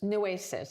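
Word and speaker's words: Nueces: Yeah, we went to, now correct my pronunciation, but Nuses, Newasis, Newasis.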